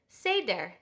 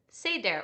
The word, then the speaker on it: seder: The Hebrew word for order is seder. Can you say that? Seder or seder, depending on how you pronounce that vowel.